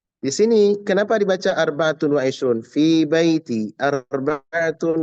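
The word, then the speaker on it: أربعة: Bacanya bukan arba. Arbaatun. Ya, arbaatun. Dia kapan dia kapan asalnya adalah arbaatun. Dibaca dia arbaatun arbaatan. Ya, arbaatan. Dengan tanwin, bukan arbaatu, tapi arbaatun. Sama kayak kita menghitungkan 1,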